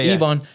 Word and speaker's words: Yvonne: You over here talking about DJ Yvonne, how you pronounce it? Yvonne? Yeah. Yvonne.